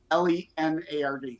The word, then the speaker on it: Lenard: .us, and there's no O in Leonard. It's pronounced like Leonard, Leonard, but it's Lenard.